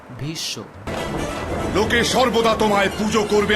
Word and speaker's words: ভীষ্ম: Also take the example of Bhishma in Hindi. This is pronounced as Bhisho.